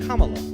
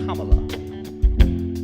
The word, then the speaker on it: Kamala: It's pronounced Kamala, sort of like Pamela. Sure. It's Kamala.